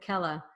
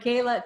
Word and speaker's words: Kela: it there so Kayla so I said your name wrong I said Kella right Kayla thank you so much